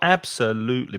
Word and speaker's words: absolutely: absolutely so we've got absolutely we've got four syllables there absolutely absolutely so it's the third syllable that has the stress absolutely and we often